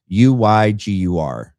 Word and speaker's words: Uygur: I don't know how to pronounce his last name. It's Uygur.